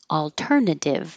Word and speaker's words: alternative: sounds the same alternative alternative the second T sounds like a d because it's between two voiced sounds your voice is on leave it on development development hold the